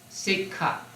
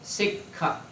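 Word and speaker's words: sekkha: now traines the p word for traines is sik you you have the word on page 179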